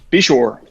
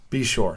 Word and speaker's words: Beshore: Be sure. Be sure.